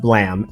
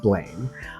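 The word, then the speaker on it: BLAME!: I've heard people talk about this, but clearly I have not listened very closely, other than to know that it's pronounced blam and not blame.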